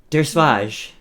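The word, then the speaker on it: Dergesvadj: i remember this name exactly full scream city der swage is my name which is spelt for anybody who wants it is a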